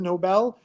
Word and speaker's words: Nobel: your last name is Nobel. When are you getting the Nobel Prize? Or is it pronounced like Barnes and Noble?